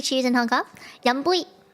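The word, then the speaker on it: 飲杯: Yum bui. Like Y-U-M. Yum. Yum. Like yummy. Yum. And then bui. Like B-U-I. Bui.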